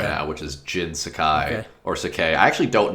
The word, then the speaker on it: Sakai: I mean, it's Japanese and it's Sakai. Yeah, I think it's Sakai as well. Probably. Um I think it's George Decay. I don't know why, but George Jin Sakai.